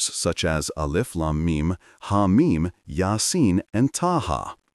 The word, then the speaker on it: Alif Lam Mim: For example, while Alif Lam Mim is written together, it is read syllable by syllable, letter by letter, as Alif Lam Mim.